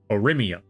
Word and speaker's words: Oria: clarifying on that one Oria I think I got it this time o as in Uber oh let me see